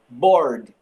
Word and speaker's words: bored: A pronúncia vai do R para o D. Vamos ignorar a letra E aqui. Então, ó, bored.